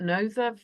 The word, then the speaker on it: Nothe: Is it Nother or Noth Fort? Nother Fort, the one in Dorset. I know you're. It's spelled Nothe, but because I think North Fort.